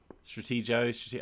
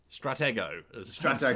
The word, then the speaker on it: Stratego: up in the chat i don't say stratego with a soft g but um stratego i don't know i've